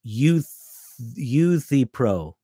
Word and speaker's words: Euthyphro: And oh, great, Robert, it's Euthyphro. Okay, thanks. I'm going to work on that pronunciation.